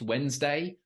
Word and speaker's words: Wednesday: that spelling if as well as knowing it's pronounced Wednesday when you come to spell it you think